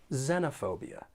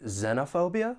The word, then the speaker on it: xenophobia: The word has five syllables and the stress is on the third syllable. Xenophobia. Now, there are two accepted pronunciations for this noun. You could say xenophobia like I've been saying or xenophobia. Either one is okay. Both are accepted.